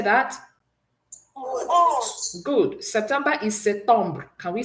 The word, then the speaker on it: septembre: September is septembre. Can we say that? Septembre. Good. You will see that the P is silent. Okay.